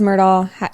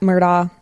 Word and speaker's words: Murdaugh: you would say is Alex murdal murdaugh I believe that's how you pronounce it it's m-u-r-d-a-u-g-h is a